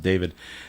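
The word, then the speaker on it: D4VD: He he spells it D, then the number four, then the number then the letter V, and then the letter D. But you pronounce it David.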